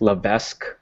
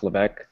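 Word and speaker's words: Levesque: or like Ryan LEC it's lavesque but it's pronounce LEC um like I don't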